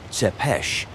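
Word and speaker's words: Țepeș: Vlad the Impaler, Tapes, pronounced Seepesh, was born in the town of Sigashora in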